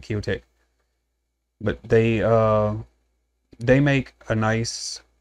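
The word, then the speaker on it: Qiotek: Q-I-O-T-E-K. I guess that's how you pronounce it, Kiotek.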